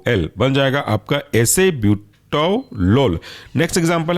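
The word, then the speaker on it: acebutolol: एटेनोलोल एल ओ L next example है आपका एसे ब्यूटो लोल एसे ए सी ई ब्यूटो बी यू टी ओ और एल ओ एल बन जाएगा आपका एसे ब्यूटो लोल नेक्स्ट एग्जांपल है आपका बसो प्रोलोल स्पेलिंग है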